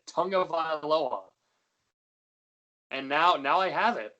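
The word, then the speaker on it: Tagovailoa: I think you were missing like a syllable. I think like you were shortening it, and like I looked at you and I'm like, that's not right.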